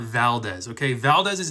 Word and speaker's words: Valdez: Okay, Valdez is how an American would say it. Valdez is the correct Spanish pronunciation.